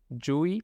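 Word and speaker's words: ĝui: Yui es CH, pero con sonido, no tan silenciosa.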